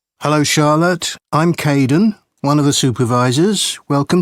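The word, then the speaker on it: Kaeden: hello Charlotte I'm Kaden one of the supervisors welcome to the team hi Aiden uh it's Kaden I'm so sorry don't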